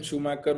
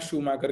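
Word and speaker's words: Schumacher: तो Sachin Tendulkar was in cricket and शूमैकर वाज the legend of F1 car racing. तो खैर point ये था कि इसको प्रोनाउंस कैसे करना है, शूमैकर के नाम से प्रोनाउंस करना है, शू मेकर नहीं बोलना है।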